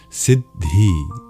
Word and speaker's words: Siddhī: And in effect, it works out to a slight pause between the syllables. Siddhi, siddhi, rather than just siddhi, siddhi, siddhi, siddhi, siddhi.